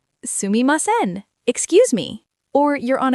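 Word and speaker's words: すみません: Let me say it slowly. Sumimasen. Sumimasen.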